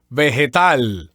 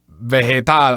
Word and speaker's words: vegetal: Yes, Bill, every time there is a vowel E and I after the letter G, the letter G is always going to have that sound, that H, English H sound.